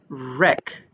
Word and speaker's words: wreck: This word is wreck. Wreck. It has a silent W at the beginning.